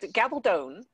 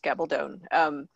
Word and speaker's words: Gabaldon: It's Gabaldon is how you pronounce her name. She always tells people that you just remember it's like rhymes with bad to the bone is how she always tells people.